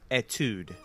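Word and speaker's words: Étude: that's that title but boy that was it's pronounced Etude Etude oh all right and it's means it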